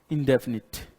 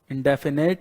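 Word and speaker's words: indefinite: इंडेफिनिट। इंडेफिनेट नहीं, इंडेफिनिट।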